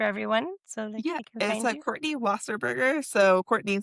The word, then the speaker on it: Wasserburger: so they can Courtney Wasserberger. So, Courtney spelled like how you think it is. And then Wasa Burger is W A S S E R B U R D E R. Like a cheeseburger.